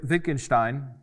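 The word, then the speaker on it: Wittgenstein: Next we had Lewig Wi Vickingstein and uh he asserted or he focused on ordinary language meaning and clarity. Now Wikinstein is important or vickingstein is how you say it for the Germans but it's he's important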